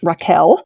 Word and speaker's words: Rachel: is Rachel wild um she would tell you her name is pronounced Raquel but spelled Rachel um she given a